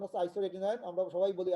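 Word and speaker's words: isotretinoin: হ্যাঁ, আসলে উচ্চারণ হচ্ছে আইসোরেটিনয়েড, আমরা সবাই বলি আইসোটিটিনয়েড, না?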